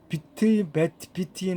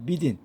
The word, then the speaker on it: within: Operation of the 영변 radio chemical laboratory within 비트인 하시면 안 되고 within 그죠? within에서 그 투 사운드로 발음을 하셔야 돼요. 비트인 하시면 쓰리 사운드 하시면 안 되고 within February and early July입니다.